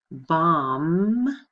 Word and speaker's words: bomb: right okay how about bomb and bombard you hear the difference the B here is silent bombard you hear that